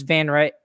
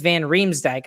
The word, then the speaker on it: van Riemsdyk: johansen down the center i'd put uh james van wright sorry james van riemsdyk i always say his name wrong on the left side and i put